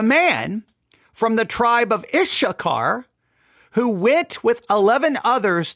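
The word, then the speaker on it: Issachar: now the man from the tribe of ishar that's spelled I SS a c h a r the man from the tribe of ishar who went with 11 others to search out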